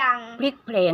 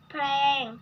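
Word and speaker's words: พลิกแพลง: แปลง ไป อย่าง พลิก แผง ได้ ยัง สะกด ซิ พอ แอ รอ แพง อ่า ต้อง อ่าน ว่า พลิก พลิก แพลง อ่า เปลี่ยน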